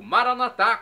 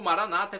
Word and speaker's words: Maranata: e agora eu clamo do aramaico maranat como dizemos na católicos ou Maranata como dizem nossos irmãos separados os evangélicos ou protestantes não importa pronúncia o significado é o